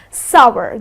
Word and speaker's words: sour: well summers something which is sour lemons are sour right so it's well you can drive it with power or shower so it's sour the correct pronunciation is sour because many people pronounce it